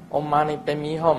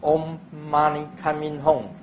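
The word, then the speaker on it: Om Mani Padme Hum: 反正大家现在这个念咒啊，Om Mani Padme Hum，有时候就念成 Om Mani Coming Home。啊，这个在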